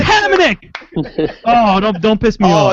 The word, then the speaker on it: Hamonic: But name some Islanders whose names are always mispronounced on NHL consistently. Hamonic. Travis Hamonic, yes. It's Hamonic.